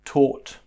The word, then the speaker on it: taught: And let's finally look at these three words which have the OR pronunciation. OR. So just like the OR over here, we had these OR with the OUGH, but these are spelt with the AUGH. So we've got daughter, we've got taught.